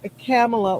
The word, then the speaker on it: Kamala: call her camela holla she says it's pronounced camela like Pamela that's a great way to remember it like Pamela uhhuh okay so yeah